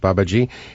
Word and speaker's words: Babaji: That's how I pronounce it. Babaji.